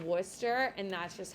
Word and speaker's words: Worcester: is pronounced in massachusetts worcester massachusetts looks like worcestershire and we don't care it's called worcester and that's just how